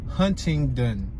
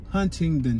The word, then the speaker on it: Huntingdon: surgeon street we're passing 2500 huntington huntingdon street that's how you pronunciate it i'm about to